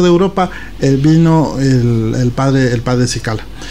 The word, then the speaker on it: Cicala: Estamos hablando del padre Mario Cicala, o Chicala, como pronuncian algunos.